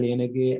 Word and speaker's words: Liyanage: plea feel free to correct my uh my pronunciation and we'll get started yes right so my name is lienergy and i'm a phd candidate from the ohio